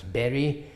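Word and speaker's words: bury: learners how to pronounce berry, to put in the ground, B-U-R-Y, which is certainly unusual, and then you can say this is pronounced like, and then you spell B-E-R-R-Y, the little fruit.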